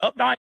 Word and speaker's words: Updike: So, folks, what we've got, how do you pronounce it? Updike?